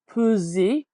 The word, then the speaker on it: peser: and this S between two vowels is sounding like a Z. And then Uh-huh. oftentimes the letter E without an accent is giving us that sound.